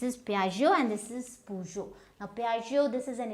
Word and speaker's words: Peugeot: Then you have this P-E-U-G-E-O-T. Now what will you pronounce this as? Now this is Peugeot. Now again, this is a French brand.